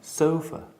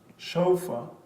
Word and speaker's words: sofa: Sofa. sofa, You're thinking of the Spanish word sofá. Sofa.